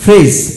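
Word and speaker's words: fridge: sand which এখন আসুন ফ্রিজ এফ আর আই ডি জি ফ্রিজ ফ্রিজ plays তো বন্ধুগণ ডি উচ্চারিত হয় না যতগুলি শব্দ দৃষ্টিত মোস্ট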